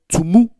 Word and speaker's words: Tumu: And please listen carefully. I said Tumu.